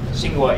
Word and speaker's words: Tsinghua: And he came here from Tsinghua University.